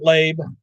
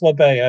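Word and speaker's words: Labbé: labay he's from canada it's not labe that's how we used to mispronounce it alex labay i think sorry i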